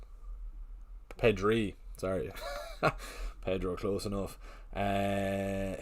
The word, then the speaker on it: Pedri: Sebastian I'm not even going to try and announce pronounce that second name. Is that Merino 20? Is that Pedro? Pedri.